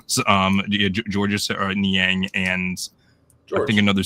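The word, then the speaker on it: Georges: Dos Borzingis for um Gorgeous I keep on saying his name wrong. Um someone on TikTok made fun of me for for saying gorgeous. Um what was his name was? Um George Niang and I think another second round pick.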